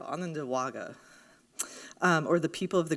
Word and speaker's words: Onondaga: contemporary lands of the Onondaga I said it wrong so I'm going to try again I've been practicing there you go Ananda Wagga or the people of